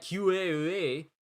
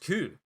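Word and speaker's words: Kū: I've been saying it wrong this whole time. It's not QAA, it's just Ku.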